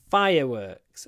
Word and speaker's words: fireworks: fireworks display was spectacular fireworks remember it's a word which consists of two nouns fire and work so the stress as always is on the first fire works the fireworks display fireworks